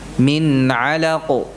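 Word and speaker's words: من: Jadi baca dengan jelas di sini, bukan di pangkas atau jeda suara nunnya. Ini min alaq tidak, tapi apa? Min alaq. Jadi suaranya tidak terputus.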